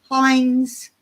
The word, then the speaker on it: Heinz: you guys have Heinz yes I'm sure you have Hines Hines I'm saying it right thank you those are